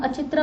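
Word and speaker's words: अहिच्छत्र: The northern capital was known as अचित्रा, ठीक है, इसको हम अचित्रा बोलते हैं, which is in Bareilly, modern day Bareilly में है ये, ठीक है।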